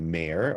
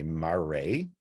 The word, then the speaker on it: mare: Each one is a mare or a mare. I've heard it pronounced both ways by people who supposedly know. So I use them both.